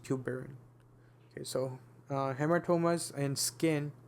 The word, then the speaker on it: tuberin: It's pronounced tuberin.